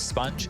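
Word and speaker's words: SPUNJ: Just for those playing at home, it's Sponge, S-P-U-N-J. So the Sponge, I know it's spelled incorrectly, but Spun J.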